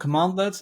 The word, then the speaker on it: cmdlets: So probably the standout feature of PowerShell are its commandlets, CMDLETS. So it's pronounced commandlets, and they're sort of like the building blocks of PowerShell.